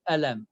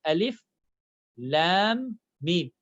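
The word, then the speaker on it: الم: For example, here, I cannot read this very first word as alam. I need to say alif, lam, mim.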